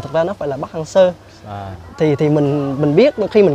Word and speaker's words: Park Hang-seo: Việt Nam mình phát âm từ đó là Park Hang-seo, nhưng mà thực ra nó phải là Park Hang-seo.